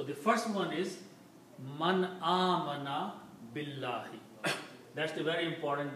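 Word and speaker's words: آمن: So when two alifs are there, you pronounce it amana.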